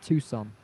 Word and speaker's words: Tucson: Pronounced Tucson. Yeah, no, but the C shouldn't be silent, Crystal. And you know I'm right. The C could be silent if it's after the S, but not if it's before the S.